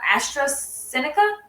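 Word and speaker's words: AstraZeneca: imperial imperial chemical industries now known part of astra seneca am i pronouncing that right yeah yeah national breast cancer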